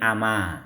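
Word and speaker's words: أما: Sini ama, bacanya ama ya ikhwah. Ma-nya manafi, hamzahnya istifham.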